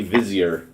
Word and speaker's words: vizier: and i don't care or vizier is it vizier sorry that's one of those words i've only seen in textbooks so i don't know how to pronounce it but apparently vizier is the correct way oh he could just